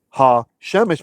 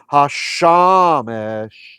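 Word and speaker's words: השמש: So you would have memorized this or read this not as ha shemesh, but as hashamesh, right?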